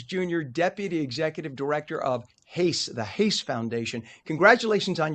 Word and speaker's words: Hace: I was like, is it Latino pronunciation or is it English pronunciation? So it's Hace, Yes. Hace.